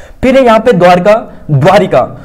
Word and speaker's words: द्वारका: द्वारका और एक है द्वारिका क्या है द्वारिका तो कौन सा यह गलत है यह सही है क्योंकि दोस्तों जो ई की मात्रा भी अनावश्यक रूप से द्वारका उच्चारण सही है द्वारिका नहीं द्वारका स्थित द्वारिकाधीश करना द्वार